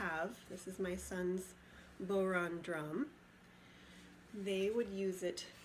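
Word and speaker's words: bodhrán: We were gonna do these Irish drums called, it looks like it would be pronounced Bodron. It's actually Boron.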